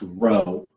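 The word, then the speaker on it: rho: be the lower case lowercase greek r pronounced row and this stands in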